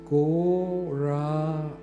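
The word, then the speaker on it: Gauranga: Goranga has four syllables. Go raanga.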